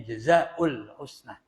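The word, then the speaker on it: جزاء الحسنى: surganya Allah Wal idofatu Adapun kalau dibaca jazaul Husna dimudofkan tidak ditanwin karena tanwin mudof itu enggak boleh ditanwin ya mud mudf enggak boleh ditanwin maka membacanya jazaul Husna Lil bayani untuk menjelaskan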